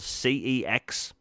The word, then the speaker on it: CeX: My city doesn't have a video game store, and we have this chain called CEX, or they pronounce it sex in the adverts, which laugh away.